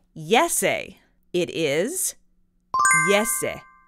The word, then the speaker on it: Jesse: to be pronounced and how they would pronounce it in Finland and so that is